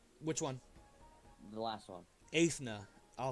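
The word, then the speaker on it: Eithne: one more time which one the last one ethna I'll spell that e-i-t-h-n-e so he said he Jesus where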